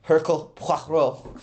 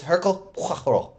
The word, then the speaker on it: Hercule Poirot: He's Belgian. He's Belgian. Oh. Yeah. So he's French. It's Hercule Poirot. I thought it said it's Poirot. Well, the O-I in French is Kenneth Branagh says